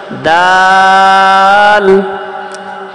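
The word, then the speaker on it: دال: পড়েন সবাই দাল। তাহলে এখানে দাল উচ্চারণ হচ্ছে উপরে যে দুই দাত আছে উপরের দুই দাতের নামটা বলা হয় নাই।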